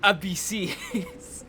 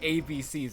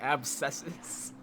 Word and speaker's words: abscesses: somebody commented ab s's we're supposed to pronounce that abc's it's literally pronounced like abc's that's what they said i forget yeah i forget who said that but we've been saying abscesses that's what you've been